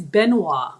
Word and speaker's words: Benoit: It's Benoit. Oh, it's French.